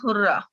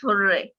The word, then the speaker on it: hurrah: Second is hurrah, or it can be pronounced hooray, right?